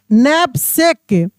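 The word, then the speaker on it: knapsack: तो with अ बिग देखिए यहां पे के एन ए पी एस ए सी के नैप सेक के साइलेंट है यहां पे नैप सेक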